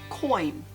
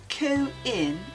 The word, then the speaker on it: coin: like people sliding into others DMs like the word coin it's not co in it's coin that glide between the O and the